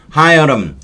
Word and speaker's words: Hiram: In the year 1434년 there died 뒤졌다 at 바체스터에서 one John 하여람. 히람이라고 해도 되고 근데 보통은 영어 발음으로는 하여람이라고 한대요. 제가 히람이라고 하려다가 찾아봤죠. 그랬더니 하여람이 맞는 바람인데 그럼 우리말로 옮길 때는 다 히람이라고 옮겨놨더라고요.